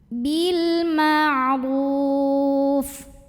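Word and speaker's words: بِالْمَعْرُوفِ: Bil ma'ruf. Huruf ra dibunyikan secara tafkhim sebab ro-nya berbaris dhammah. Cara membacanya ditebalkan huruf ro-nya, pangkal lidah kita angkat, ru. Ruf.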